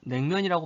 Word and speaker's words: 냉면: 아, 그래서 원래 한자는 차가울 냉이지만은 리을이 니은으로 바뀌어서 냉면이라고 발음하는구나.